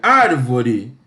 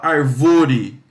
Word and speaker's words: árvore: Você não fala arvore e também não fala francês com avore. Você fala árvore. Sílaba mais forte.